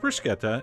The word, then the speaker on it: bruschetta: bruschetta mandu they hate that but it is pronounced bruschetta and this actually is not a true bruschetta